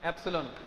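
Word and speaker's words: epsilon: ई पी एस आई एल ओ एन एप्सॉन ये pronunciation है।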